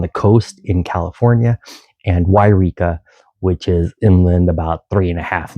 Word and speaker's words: Yreka: There is a Yreka, and it starts with a Y, and a Eureka, which is on the coast.